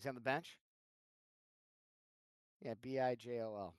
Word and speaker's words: Bijol: Yeah, Bijol. B-hole. Yeah, that's how you say it, right? That's It's a soft J.